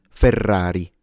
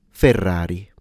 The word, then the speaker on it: Ferrari: But when it's a single R, it's it's still trilled, but it's a much shorter and faster sound R as opposed to R. So Ferrari. Ferrari.